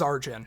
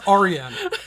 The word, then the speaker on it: Arjin: I interviewed him twice both times he said hi this is arjin yes that is how he pronounces his name so that's how we should pronounce it yes who am I to tell him it's Arian it's arjin no arjin I'm sorry you're wrong you're pronouncing it wrong I mean granted people